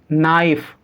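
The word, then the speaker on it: knife: से पहले के को लिखा जाएगा तो के साइलेंट होगा तो सम क्या बनेंगे नाक नीड नाइफ नो रूल क्या कहता है हमारा की एन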